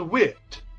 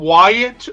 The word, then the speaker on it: Whit: but my older boy his name is wit just like the word Whit T like the word for small and people mispronounce his name I'm like how do you how like literally when we like when I came up with how do they mispronounce it they'll call him Wyatt or will or just anything but wit and it's like like